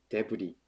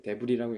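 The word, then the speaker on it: de Vrij: 그래서 딴 데를 좀 그래서 또 다른 선수들을 보자면 이번에 이적을 선언한 스테판 데브리, 네, 데브리라고 읽는 게 맞는 것 같아요.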